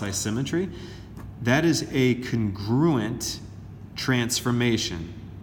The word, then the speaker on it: isometry: a nice symmetry it's spelled isometry but we pronounced I symmetry that is a congruent transformation the figures themselves